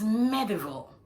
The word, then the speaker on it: medieval: It is medieval. Medieval. It is hard to believe that the VAL in that word is pronounced vol and not val.